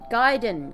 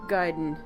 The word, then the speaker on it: Gaiden: this is rather convenient giden guy g a i it it's spelled at the bottom of